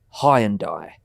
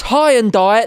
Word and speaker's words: Hyundai: I'm saying it the way the advert told me to say it. The advert said it's high and die. the drive of your life. That's what the advert said. Now the advert's saying you've been pronouncing it wrong.